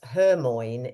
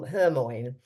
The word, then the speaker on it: Hermione: And of course, Hermione is actually pronounced differently to the way he had spent 7 books, I think it is, calling her Hermione.